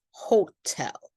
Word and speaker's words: hotel: When the vowel sound, the second syllable is stressed, and then we do say a strong popped T. For example, motel. You can hear that T, can't you? Motel or hotel. These are the exceptions.